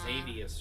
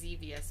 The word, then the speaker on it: Xevious: Xavius or something. Xavius or something. I've never played either of the games, so I don't know if the... It's technically pronounced Xevious, but it starts with an X.